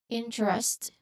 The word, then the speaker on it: interest: Interest. This one has in a very fast or casual speech. Some speakers might almost skip the T sound.